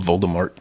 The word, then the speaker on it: Voldemort: shall not be named Voldemort it's pronounced voldemor vem it's pronounced however